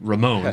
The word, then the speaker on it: Ramon: Uh but yeah, so Roman uh or sorry Roman Ramon, excuse me.